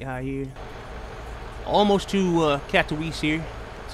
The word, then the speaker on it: Katowice: Almost to Katowice here. That's how you pronounce it.